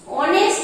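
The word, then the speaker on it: honest: এখানে বসবো D Ganga অনেস্ট আছে এখানে অনেস্টের উচ্চারণ কি এ আসছে তো অনেস্টের উচ্চারণ ভাইলের মতো বলে এখানে কিন্তু এন অনেস্ট হবে হ্যাঁ তার এর আগে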